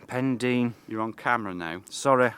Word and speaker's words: Pendine: the Sea next to Paul Dean pendine pendine pronounce it correctly pendine you're on camera now sorry I don't want